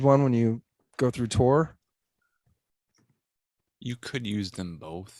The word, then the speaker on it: Tor: interests then maybe the tor browser is for you kind of sounds like thor with a silent h kind of does it